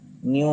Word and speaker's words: nu: இது வந்து v கிடையாது, பார்க்கறதுக்கு v மாதிரி தான் இருக்கும், but this is called as nu. nu ன்னு சொல்லி pronounce பண்ணுவோம், nu.